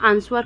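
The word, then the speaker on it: answer: लिखते आ रहे हैं तो हम आंसर कभी नहीं बोलते हैं वहां पे डब्लू जो है कि साइलेंट हो ही जाता है ठीक है दोस्तों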